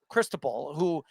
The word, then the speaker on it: Cristobal: The coach, and I pronounce his name, Cristobal, who was sensational all season long.